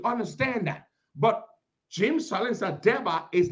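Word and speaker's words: Debbah: People can say Deba. It's not Deba, it's Deba. That's why his name is spelled D-E-B-B-A-H. Deba.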